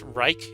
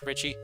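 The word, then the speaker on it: Reiche: Paul Ritchie I thought I thought it was pronounce Reich Paul Reich III but I looked at Wikipedia Richie man he made the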